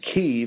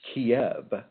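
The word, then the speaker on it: Kyiv: is reaching out to the people in in Kei and by the way just so you know it's it's not pronounced Kev it's pronounced ke and and this was given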